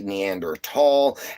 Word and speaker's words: Neanderthal: The H is actually silent, making the T stand for itself. we've just mispronounced it for all this time and everything. So, uh nowadays we say Neander tall as just a way